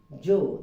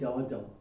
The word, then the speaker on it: Joe: That is Joe, it's not Jaw.